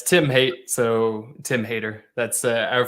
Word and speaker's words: Haight: I don't even ask you if I was pronouncing it right. Yeah, it's Tim Haight, so Tim Haight.